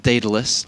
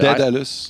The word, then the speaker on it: Daedalus: Maybe it's an American thing, but Daedalus. Yeah, like dead, like D-E-A-D, Daedalus. I call Isn't it that Daedalus. how you say it? Daedalus, like D-A-E-D, Daedalus.